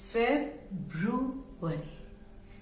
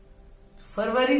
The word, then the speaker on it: February: लेकिन इस वर्ड को हम 3 में यदि बांट लेंगे, फेब्रुवरी, फेब्रुवरी, ओके, फेब्रुवरी. फरवरी जैसे छोटा नहीं करना, इसको थोड़ा लंबा से.